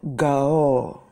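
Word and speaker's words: גואל: In the Hebrew Bible, in the Hebrew word for Redeemer, the Redeemer, it's called Gaol. That is the Hebrew pronunciation of the Redeemer.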